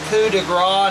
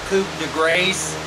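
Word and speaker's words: coup de grâce: the Knight confers the coup de gras it's pronounced coup de gras not Coupe de Grace pushes out the king and then the checkmate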